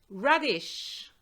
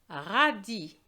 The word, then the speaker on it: radis: Radish. Radis. Un radis. The S is silent.